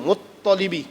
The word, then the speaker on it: Muttalib: Ada tasydid tu, Muttalibi. Muttalib.